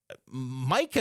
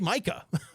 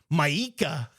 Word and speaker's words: Micah: but it was like Micah is pretty standard. The pronunciation of his name is how it's spelled. Like that's how you say Micah. He he kind of made it sound like Mika.